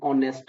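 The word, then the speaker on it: honest: तो इन सारे वर्ड्स में ये जो एच होता है ना ये बेसिकली समझो है ही नहीं। ये साइलेंट होता है। इसमें कभी भी इन वर्ड्स में हम ह साउंड प्रोनंसिएट नहीं करते।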